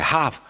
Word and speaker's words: half: Okay, half is HAF, the L is silent, and what else is there?